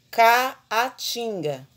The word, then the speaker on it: Caatinga: hiato agora outra palavra Caatinga caatinga quando nós tem duas palavras aí k a é duas sílabas né duas o encontro vocálico né da vogal e da semivogal kinga se eu for separar Caatinga vai ficar Então esses dois atos que foram separados é um encontro vocálico só que é chamado de hiato porque elas elas caem em sílabas diferentes separação de sílabas diferentes entendeu mas uma mais